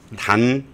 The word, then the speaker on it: 단: 단 현명. 단시입니다. 그래서 자꾸 탄탄 그러는데 에, 영어로는 단시를 탄이라고 발음을 하나 봐요. T. 단시입니다.